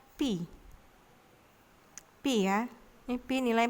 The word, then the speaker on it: pi: Bacanya pi.